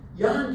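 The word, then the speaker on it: Jan: changed it to y a n ke e Yan key was a very popular Dutch name also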